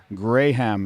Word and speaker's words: Graham: Graham, it's pronounced. That's the English.